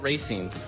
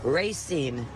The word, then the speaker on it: Racine: What do you say to people who call it Racine? They must be driving fast down Racine on Main Street where we're located. Racine. Like you're racing a car, racing along a track?